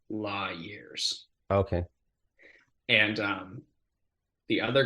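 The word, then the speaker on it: Lawyears: um l-a-w-y-e-a-r-s um it's kind of like a law and order but it's La years okay and um the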